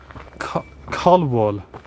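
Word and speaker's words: Colwall: I got off at um a station called Collwall, which is spelled C O L W A L L.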